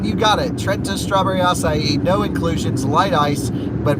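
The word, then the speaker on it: açaí: the starbucks people say a sai but i looked it up just to confirm a couple years ago it is acai because it has like an accent under the sea and an accent over the eye um pretty weird extra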